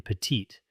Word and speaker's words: petite: For instance, the final consonant in petit is silent, but we pronounce the T in petite.